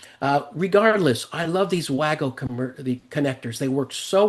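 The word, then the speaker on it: WAGO: And I got now so into I call them WGO connectors, not WGU like the beef or uh WGO. Uh Germans pronounce it Vago because I think it's a German company. Uh regardless, I love these Waggo the connectors.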